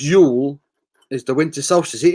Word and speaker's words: Jule: Jule, pronounced Yule, is the winter solstice.